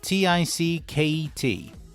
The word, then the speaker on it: ticket: And the second one, T-I-C-K-E-T.